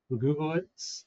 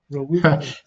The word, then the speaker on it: Relugolix: and the plan is to start on the Rugulits, if I'm pronouncing that right. Or Govix? Sorry? Or did you say Orgovix? Relugolix.